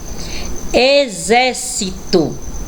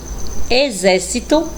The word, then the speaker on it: exército: a próxima palavra exemplo olha aí o x com som de z exército Então realmente o X Ele fica totalmente diferente na pronúncia da palavrinha escrita com ele então aí com z eu tenho exame exército e exemplo vamos ver x com